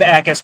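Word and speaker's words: Jacas: And Gabe Ais, when you're looking for him on the uh on the Illinois roster, you got to look at the Jay's. The Jay is silent.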